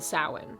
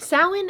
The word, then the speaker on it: Samhain: If you aren't pagan or Wiccan, you probably haven't heard the word Samhain before, but it's not spelled the way it's pronounced. Samhain is Halloween, so Samhain is on October 31st.